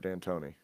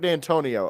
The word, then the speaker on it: Dantonio: Yeah, I think it's Mark Danton. That sounds right. U It is. It's Mark Dantonio. Okay, so I was right. I knew I said it wrong.